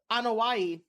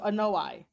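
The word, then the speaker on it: Anoa'i: the uh they pronounce it as uh uh anaii but oh yeah they pronounce it as that instead of an noai um yeah so the anaii and Fatu family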